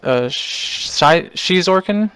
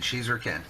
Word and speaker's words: Xizorken: And we're doing a interview with Xizorken. I believe I pronounced that correctly this time. Is that right? Yes, you did. Xizorken.